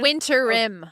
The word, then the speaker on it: winterm: not come back after winterm break. So Okay. I said winterm, not winter. I said winterm because they call it. So that was not a mispronunciation. It's winter rim.